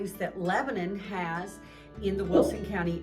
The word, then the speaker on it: Lebanon: Lebanon, that's how we pronounce it, not Lebanon, like the Middle East. So, we pronounce it Lebanon, Tennessee.